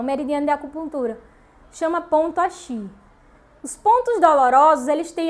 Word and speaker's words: Ashi: Axi se escreve A-S-H-I, se você quiser anotar aí, tá?